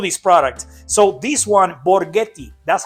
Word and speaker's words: Borghetti: So this one, Borghetti, that's how you pronounce it, Borghetti.